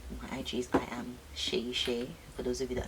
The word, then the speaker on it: Seyi Shay: My IG is I am Seyi Shay. For those of you that are not Nigerian, Shay is spelled S-E-Y-I, and Shay is S-H-A-Y for the Westerners out there.